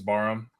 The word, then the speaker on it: Barham: I mean, I've heard this, like, with regards to, is Barham, it's not Barham, it's Barham. The H is silent. I don't know how to. It's Barham.